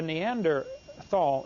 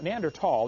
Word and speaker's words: Neanderthal: you don't know the neanderthal neanderthal the h is silent neanderthal man is named after